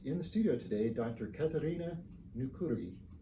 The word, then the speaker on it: Katariina Nykyri: Katariina Nykyri. How close did I get on the pronunciation?